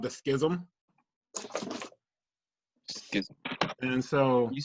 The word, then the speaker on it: Schism: Schism. And so. Can you spell that?